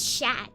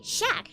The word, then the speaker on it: Shaq: It's pronounced as Shaq. Okay, Shaq, thank you so much.